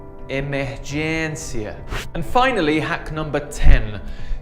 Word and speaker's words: emergência: You might be tempted to pronounce this like encia, but can you see that little hat above the E? This is like a short I sound in English, that I sound for internet. But you just need to make it a bit longer, like E, fluência, emergência.